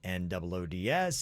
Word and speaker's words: Noods: like nude pictures, but it's spelled Noods as in noodles.